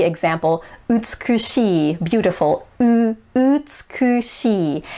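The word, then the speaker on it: 美しい: E example, utsukushi, beautiful, utsukushi. If I were to pronounce that with an American accent, it would be utsukushi. Notice how it's utsukushi, whereas Japanese it's utsukushi.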